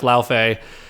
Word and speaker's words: Laufey: It's Faye, because like her name is Faye, so it's Laufey.